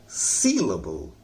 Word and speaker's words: syllable: ठीक है ना, उसकी अंग्रेजी हो गया syllable, सील पर जोर लगाइए और अबल को हल्का पढ़िए, syllable, syllable।